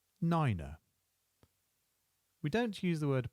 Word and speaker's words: niner: 8 is 8, and 9 becomes niner, niner. We don't use the word point, instead we use decimal, and that's pronounced decimal.